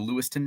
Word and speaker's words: Lewistown: Lewiston Idaho there's a Lewiston Maine there's a Lewistown Illinois that's actually pronounced Lewiston uh uh do you